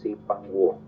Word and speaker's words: Zipangu: La palabra está mal pronunciada, no es Zipango, es Zipanguo. Zipanguo.